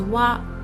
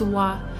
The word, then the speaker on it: は: It is pronounced as wa, wa, but we write it as hiragana, ha, ha. So when we use it as a particle, we pronounce it as wa.